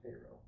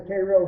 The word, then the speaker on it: Cairo: Grant down in Cairo, and we'll use the local pronunciation on Cairo.